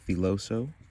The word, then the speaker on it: Filoso: the Todd B um foso I think it's called It's pronounced filoso this is the smaller